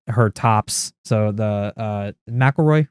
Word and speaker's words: McElroy: tops so the uh mcelroy right is how you say them that's mcilroy yeah we we were going